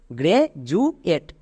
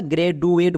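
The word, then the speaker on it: graduate: হয় এট তাহলে একসঙ্গে উচ্চারণ করো গ্রে জু এট একে আমরা গ্রে ডু এট বলবো না তাহলে খুবই সিম্পল নিয়ম ডি এর দুপাশে যদি দুটো ভাওয়েল দেখতে পাই ডি এর জন্য আমরা বর্গীয় য উচ্চারণ করব এই নিয়মটা খুবই সিম্পল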